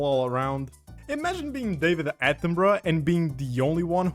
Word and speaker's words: Attenborough: There's too many O's in there to just be Attenborough. Attenborough.